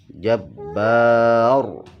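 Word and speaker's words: جبّار: Contohnya begini, Jabbar, Jabbar, membacanya tebal lah, ba-nya tipis, ra-nya tebal, jadi Jabbar.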